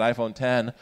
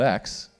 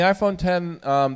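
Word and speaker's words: iPhone X: thing again is an iPhone 10 or is it ifotx and from Apple it is 10 it's a Roman numeral 10 that's pronounced 210 but people still accidentally call it X yeah John yes right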